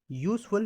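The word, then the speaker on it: useful: अब यहाँ आप देख रहे हैं कि यू क्या है? इंग्लिश में तो वॉवेल है, लेकिन इसका प्रोनाउंसिएशन क्या होगा? इस तरह से लिखा जाएगा यूजफुल, हिंदी में प्रोनाउंसिएशन जब करेंगे तो या क्या है आपका? या तो वॉवेल नहीं है, हिंदी का स्वर नहीं है, तो वहाँ क्या आ जाएगा? ए आ जाएगा आपका।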